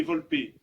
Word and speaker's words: Volpe: Brigadier Arnaud Volpe, prononcé Volpe, 1er régiment de hussards parachutistes, 1er RHP, mort pour la France.